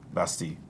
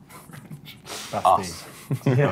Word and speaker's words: Bastille: If someone's never heard Bastille before, I'm going to pronounce it in French.